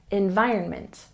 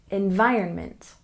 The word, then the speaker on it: environment: good and the environment we stress the second syllable environment environment now that we've covered